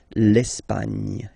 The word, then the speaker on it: Espagne: Okay, don't insist on the final E because basically it's not pronounced. L'Espagne.